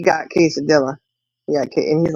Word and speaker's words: quesadilla: Well, now D got quesadilla. Yeah. And he's like, "How do you say that?" I said, "Cesadilla." No, it's quesadilla.